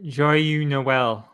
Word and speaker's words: Joyeux Noël: If you're in France, I can never pronounce it correctly. What is it, Dan? Oh, Joyeux Noël.